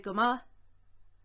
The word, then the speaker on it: go maith: Tá mé go maith, or táim go maith, just as equally as good. Táim go maith, tá mé go maith, or go mai, as you might hear it pronounced.